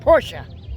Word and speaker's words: Porsche: on the wing make go up higher porsche that's how you say it check this claw